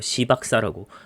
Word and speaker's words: 시박사: 시박사라고. 발음 잘해야 됩니다. 욕 아니에요.